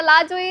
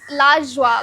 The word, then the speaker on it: La Joie: फिर मैं सोचा लाजोई इज़ नाइस. एक तो पहली बात तो लाजोई का प्रोनाउंसिएशन भी गलत कर रही हूँ, पर ठीक है, अभी मोस्ट इंडियंस को लाजोई इट्स लाजवा करके, बट मोस्ट इंडियंस को